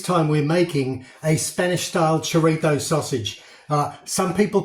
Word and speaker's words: chorizo: Some people call it chorizo. A really good Spanish friend of mine says it's chorizo. So that's how I pronounce it, because I figured